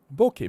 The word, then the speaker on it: bokeh: I didn't say bokeh, because they say it rhymes, the way I say it rhymes with okay. Okay? Like, are you okay? I didn't say bokeh, I said bokeh. Bokeh, bokeh, bokeh, bokeh, right?